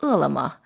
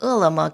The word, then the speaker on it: Ele.me: finalization of the merger between food delivery rival ulama that's spelled e-l-e-m-e and alibaba's new retail subsidiary kobe